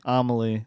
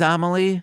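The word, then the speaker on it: Emalie: How do you spell it? E M A L I E. Amaly. That is Amaly.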